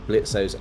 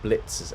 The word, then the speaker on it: Blitzo: then we will add Blitzo's elements, or Blitz's elements, because the O is silent as I got corrected last time, into the kind of